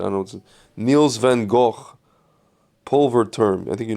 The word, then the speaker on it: Van Gogh: Niels van Gogh, Pulver Term. I think you know this track. Humate, Love Stimulation. This is notice that Greg, in his hoity-toityness, pronounced Van Gogh in its correct Van Gogh.